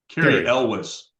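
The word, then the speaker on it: Cary Elwes: I probably won't pronounce his name right. Ewis, or I forget the Oh, Carrie Carrie Elwes.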